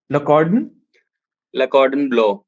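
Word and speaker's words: Le Cordon Bleu: So now coming to your course, तो लकॉर्डन ब्लो, इसका pronunciation क्या है? लकॉर्डन ब्लो।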